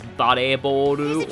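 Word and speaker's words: バレーボール: the way that it's the way volleyball is pronounced in Japanese is bareboru or bare for short, which sounds very similar to ballet or valet.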